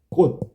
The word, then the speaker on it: 꽃: 꽃. 이렇게 하면 발음이 꽃하고 디귿으로 발음되잖아. 디귿으로.